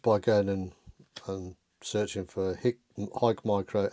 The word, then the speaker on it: HIKMICRO: There's a silent E in here for us English speakers. It's not HIKMICRO, it's HIKMICRO. They are a huge company